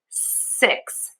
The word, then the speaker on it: six: You can see my mouth is more closed for this six. So my mouth is a little more closed and my tongue is just behind my top teeth for this vowel.